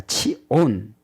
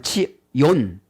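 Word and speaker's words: צִיּוֹן: 원형은 치온입니다. 치온. 히브리어 발음은 치yon. 원형도 치yon.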